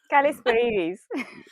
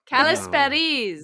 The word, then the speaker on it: Kalisperides: Kalisperides. Kalisperides. That's really Yeah.